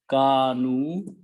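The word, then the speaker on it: كانوا: when we make plural, we write down an extra alif, which is not pronounced. And because of the Waw, this is pronounced as Dhamma also. So this become Kanu, which is the word here.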